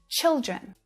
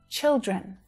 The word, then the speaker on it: children: It's the vowel sound. It's different, right? It's a different vowel sound. So that's why using the phonemic script is so important for your pronunciation, because you can see the sound and see that it's different. I mean, hear it, right? Child, chai, child, and children. Chill, children.